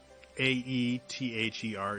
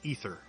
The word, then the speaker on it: aether: the dark world they they pronounce AE th er is ether and it just it's weird for me apparently that is the correct correct pronunciation of the word is ether not aether despite the